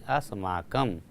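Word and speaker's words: अस्माकम्: अस्माकम का जो हम लोग उच्चारण करते हैं म हलंत है इसलिए इसको हल्का बोला जाता है, नहीं कि अस का अस्माकम। इसका हलंत है तो हम लोग कहें अस्माकम म आधा।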